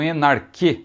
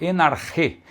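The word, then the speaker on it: ἐν ἀρχῇ: Então veja, enarche, muitos falam enarque, não é? Uma pronúncia mais próxima realmente do grego koiné seria enarche.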